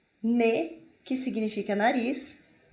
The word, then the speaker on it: nez: significa aluno, nous, que é nós, não é pronunciado o S, nez, que significa nariz, e laid, que é feio, ok?